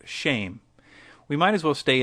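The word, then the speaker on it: שם: which is the very hebrew word for name which is shem pronounced shame we might as well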